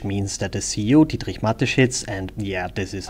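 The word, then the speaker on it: Mateschitz: lives matters which means that the ceo dietrich matheshetz and yeah this is how you pronounce it correctly fired two of his executives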